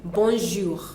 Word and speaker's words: bonjour: people do not know we do not have that that thick J in French what we have is a soft one that it's like dunk on the bonjour bour we bour and